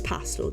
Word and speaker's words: pastel: that um and but we don't say it like neutral so it's pastel guys it's pastel like fruit pastels you don't say fruit